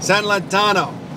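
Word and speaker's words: San Lotano: How's it pronounced, Carlos? San Lantano. San Lantano.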